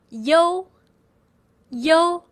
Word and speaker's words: you: Yo, U is pronounced as yo yo. It sounds just like yo in yoyo Chinese.